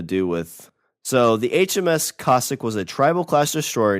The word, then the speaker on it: Cossack: on the cossack okay is that kosak or cossack it's c-o-s-s-a-c-k they don't give me a pronunciation i wouldn't say it's classic but cossack is is a is a russian thing and that's the greatest